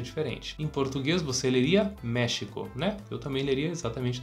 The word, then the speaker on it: México: que vai pronunciar é agora no espanhol a situação é diferente então se tem a tilde não importa a gente tem que manter esse som de e fechado e é por isso que o nome do país então a gente pronuncia México Vamos repetir México